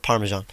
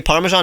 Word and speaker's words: parmesan: pasta pancetta talking about parmesan i know i don't want to promote you you say parmesan not parmesan parmesan like a lot of british parmesan yeah okay so